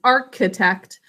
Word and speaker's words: architect: yes yes okay so because the arch part of this word we end up pronouncing architect but it's an arch like an actual arch in a lot of greek and roman structures that's the base of this word can you all say architect architect three syllables first syllable